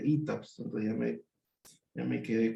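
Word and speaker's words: ETABS: Alguna vez uno de los alumnos me corrigió, "Profe, no se dice tabs, se dice ETAPS."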